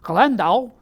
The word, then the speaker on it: Landau: Well, he was born in Landau, Germany, which I'm sure I'm mispronouncing. Let me try the German way. Landau, Germany.